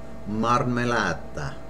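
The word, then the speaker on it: marmellata: put on your peanut butter and jam sandwich marmolada Mar mulatto marmolada Jam marmolada here's another word I hear mispronounced ice cream ice cream a lot of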